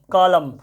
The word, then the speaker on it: column: अच्छा, COLUMN, कॉलम, कॉलम मतलब क्या होता है, स्तंभ होता है। ऊपर से नीचे जो लाइन होता है उसको हम लोग क्या कहते हैं, कॉलम बनाओ।